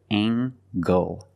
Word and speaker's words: angle: is a right angle use the nasal plus the hard G angle angle this is a right